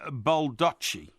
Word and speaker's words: Baldacci: Now, I was going to ask you, have you ever heard of an author called David Baldacci?